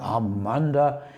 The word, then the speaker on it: Amanda: And by the way, it shows his lovely wife, Amanda, pronounced in German, Amanda.